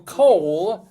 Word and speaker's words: Cole: So, population 6,000, 60% of Cole is Hispanic, which is kind of interesting. How do you spell it? C-O-L-E. Like coleslaw.